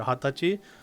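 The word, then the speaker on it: 二十歳: too it's not wrong but the more common pronunciation is either hatachi or hatsuka for days the 20th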